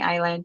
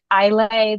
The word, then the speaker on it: Islay: They have kids that live on the island. Like I know their story now too. Yes, yes. And the island is called Isla. It's when you read it, it reads Islay, but it's Isla, pronounced over there.